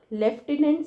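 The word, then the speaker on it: lieutenant: लेकिन स्पेलिंग बहुत इंपोर्टेंट इसमें एफ नहीं आता फिर भी हम एफ का साउंड एफ प्रोनाउंस करते हैं तो इसको कैसे याद करोगे ला लेफ्टिनेंट से आप याद रखो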